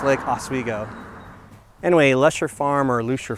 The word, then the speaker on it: Oswego: So a viewer was very kind to point out my inability to pronounce it correctly, so it's Lake Oswego.